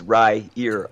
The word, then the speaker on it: Riyria: that that was the rera revelations the one that you read okay all right and in case you want to know how to pronounce that's Ry ear uh I'm so glad